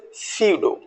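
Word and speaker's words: pseudo: next word ट इज पी एस ई यूडी ट इ सीडो नेक्स्ट वन इ साइकोलॉजी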